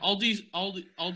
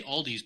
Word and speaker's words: Aldi: Yeah, Aldi's is owned. You say Aldi's, but it's Aldi. Is owned by Trader Joe's. It is Aldi.